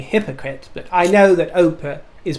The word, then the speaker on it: Oprah: it oprah but uh i remember my great grandmother used to call her opera but i think that was just because she used to read the name in the papers rather than watch her on the television but come on i